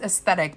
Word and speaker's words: Aesthetique: It's aesthetic, but it's looks like it's spelled aesthetique with a Q.